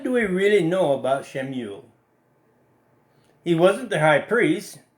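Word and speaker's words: שְׁמוּאֵל: Now, you'll hear me say Shemuel. That's how the Hebrews would have pronounced it.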